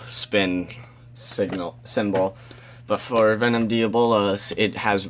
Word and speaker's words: Diabolos: It's Diabolos. It's not Diablos.